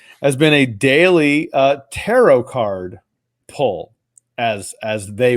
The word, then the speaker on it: tarot: how would you spell Terror artero tarot is it Terror like Terror car that's a deck of them Terror cards or tarot cards doesn't rip uh no tarot t-a-r OT the t is silent it's looking to rot